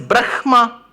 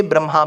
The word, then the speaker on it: Brahma: m m a ah when you pronounce it the way it is written it is Brahma oh yes sir but why do we say Brahma because in samam there is a rule you put that some